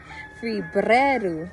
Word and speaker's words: Febrero: 1, Enero, January, Febrero, you got to roll your R's.